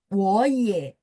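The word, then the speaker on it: 我也: Jadi ketika nada tiga ketemu nada tiga, maka depannya berubah jadi bacanya nada dua. Berubah baca, tapi tandanya tetap tiga teman-teman ya. Makanya 我也, 我 jadi dua, iye-nya tetap.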